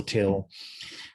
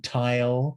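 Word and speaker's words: Tyl: dramatic noel till and a lot of people don't know how to pronounce his name and he would it would drive him crazy if people called him knoll and he'd say noel and then i've heard people call him tile and you know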